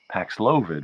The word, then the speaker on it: Paxlovid: On the other hand, Paxlovid rhymes with COVID, so it probably is Paxlovid from a marketing point of view.